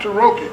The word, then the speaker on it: Taroki: And here with me in the second part of the show is Scott Taroki, I pronounced it right. Scott Taroki. Yes, sir.